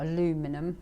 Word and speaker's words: aluminium: apparently picked up um an aluminium or aluminum as americans say but an aluminium crutch